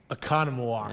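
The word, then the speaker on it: Oconomowoc: You're going to give me what we hope is the correct pronunciation. Gotcha. Are you ready? Yeah. Here's an easy one. Economowoc.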